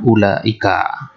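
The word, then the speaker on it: أولئك: Wawunya di sini maktub yuktab wala yuntaq. Tertulis tapi tidak diucapkan. Mutawasid juga ulai, baitnya ulaika.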